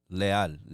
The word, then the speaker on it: Leal: little bit about who Leal, right? That's how you say it in Spanish? Yeah, Leal in Spanish, right?